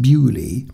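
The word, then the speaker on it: Beaulieu: plans of hailes and bolo which um let me admit it right here is locally pronounced buy and put them on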